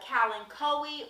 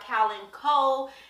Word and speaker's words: kalanchoe: Then followed by a kalanchoe or kalanchoe, depending on how you say it. Kalandiva, Kalandiva. It just all depends on where you're from.